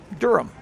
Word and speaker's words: Durham: heavy it says Durham the H is silent yeah Durham well that's what I